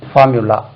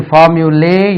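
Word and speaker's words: formulae: இன்னொன்னு f ola ஏ இது பார்முலே என்று உச்சரிக்கப்படுகிறது தவறாக இது ஃபார்முலே இல்ல ஃபார்முலி ஃபார்முலி இது வந்து ஜெனரல் சென்ஸ்ல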